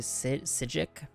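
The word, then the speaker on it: Psijic: branches all over saig rhymes with sigil so it's actually a sigic okay good to know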